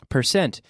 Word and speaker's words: percent: little more difficult 1/8 careful with the pronunciation 1/8 is the same as 12.5% percent noise put findt but per scent it sounds like an ass per scent like yesterday I sent a letter per cent percent and 7/8 is the